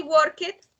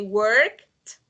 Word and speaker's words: worked: You see, we never say work it, we say worked.